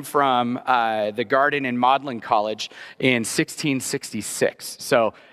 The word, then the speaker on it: Magdalen: you see it written but this is the only place where Magdalene in Oxford is pronounced modlin uh and you'd have